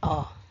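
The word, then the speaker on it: を: Notes on special characters. O pronounced o used only as a grammatical particle.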